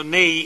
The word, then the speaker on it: Ney: La sconfitta fu dovuta prevalentemente al maresciallo, è scritto Ney e si legge Ne.